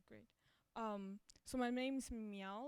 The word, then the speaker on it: Miao: you okay so why we're changing we have meow it's you know it's spelled Min but it's pronounced meow so it's me meow it's it's hard for